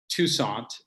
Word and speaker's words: Toussaint: Yeah, so it's pronounced Toussaint, which is not the French way. I guess that's the American way.